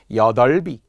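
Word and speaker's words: 여덟이: 자, 숫자 8과 관련된 8, 거기에도 모음 조사가 오면 비읍이 올라간다는 거예요. 여덟비, 여덟불, 여덟비예요 이렇게 발음하는 거.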